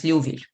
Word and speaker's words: Liouville: Just remember that pronounced as Liouville.